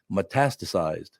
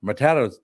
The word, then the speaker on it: metastasized: Metastasized. She could not say the word metastasized. She just metasasa, mestista. No, it's none of those.